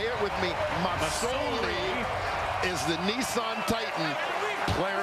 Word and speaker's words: Masoli: It's an S. Masoli. S, not a Z.